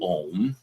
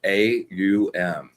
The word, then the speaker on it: Om: When you do Om, and it's 3 syllables, AUM. So it starts with a Om. So you've got the A, you've got the U. That sounds O-ish, and then out into the M.